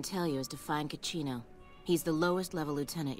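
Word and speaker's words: Cachino: So let's go ahead and see if we can find Cacino. Rhymes with cappuccino.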